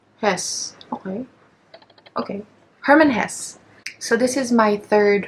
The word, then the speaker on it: Hermann Hesse: book I've discovered Herman Jesse how do you pronounce his name yes okay okay Hermann Hess so this is my third Hermann Hess book